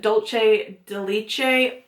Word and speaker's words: Dulce de Leche: This is the Mega Glow Contouring Palette Contour in Dulce de Leche.